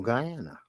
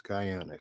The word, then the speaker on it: Guyana: Guyana in this situation or Ghana no Guyana it's Guyana gu y n a so I believe I'm pronouncing that correctly and you know what